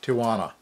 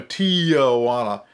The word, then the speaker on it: Tijuana: And thank you, Renee, for saying Tijuana, because there again, I mispronounce everything. And like a lot of gringos, I call it Tijuana. There is no awa. There is no Tijuana. It's Tijuana.